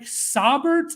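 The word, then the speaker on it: Saubert: double check how to say it uh Eric sabert is the pronunciation guide for um pro football reference check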